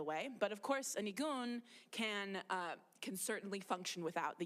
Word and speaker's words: nigun: It really is known really from the Yiddish nigun, or like a Yiddish or niggin, it's sometimes they spell it N-I-G-N, right?